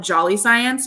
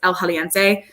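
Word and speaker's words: El Jalisciense: But I really, really love, we call it around here, we call it Jolly Science, but it's not how you say it. It's El Jaliense.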